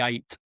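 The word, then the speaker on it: Ait: And then the one over the eight or it's called, it's spelled AI T.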